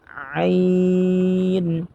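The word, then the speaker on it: عين: দাতের agar সাথে লাগিয়ে আইন আইন দুই নাম্বার মাখরাজ হতে হলকের মধ্যখান হতে স্পষ্টভাবে উচ্চারণ করতে হবে আইন কফ কাফ লাম মিম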